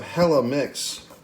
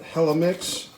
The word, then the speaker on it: Helimix: hello i guess you you're supposed to say it like some like gwen stefani from california and 1995 hella mix that i didn't realize